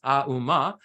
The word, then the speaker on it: Om: And the Om at the head of it, we can look at it as three syllables within the Sanskrit as Auma, which stands for body, speech, and mind.